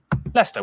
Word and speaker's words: Leicester: Leicester, Worcester, Gloucester.